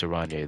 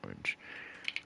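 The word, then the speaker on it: Oranje: is pronounced river shoal orange is pronounced iranian oh i'm sorry it's miss arande then not miss orange i couldn't see how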